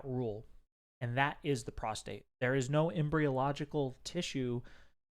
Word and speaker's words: prostate: So, one of the common things we've seen people do is pronounce prostate with an extra R, like prostrate.